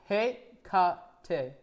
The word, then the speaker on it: Hecate: Okay, so it's pronounced Hekate.